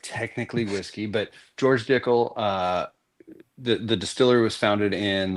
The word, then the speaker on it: Dickel: It's Dickel. It sounds like tickle, but it's different. It's spelled different Like- for sure.